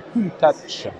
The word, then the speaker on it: Countach: ce cul Lamborghini Countach évidemment notez bien la prononciation officielle donc c'est cool ta touche avec un T une tasse pourquoi parce que